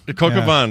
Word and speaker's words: coq au vin: Cocavin is how you say it.